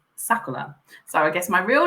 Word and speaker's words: Sakura: But Japanese pronounce their R's as L's. So actually, the real pronunciation is Sakura.